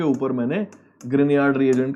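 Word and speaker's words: Grignard: होता है, ग्रिगनार्ड reagent, उसकी प्रोनाउंसिएशन ग्रिनियार्ड होती है पर ग्रिगनार्ड बोल देते हैं उसको हम। ओके, प्रोनाउंसिएशन अलग होती है, फ्रेंच नाम है वो।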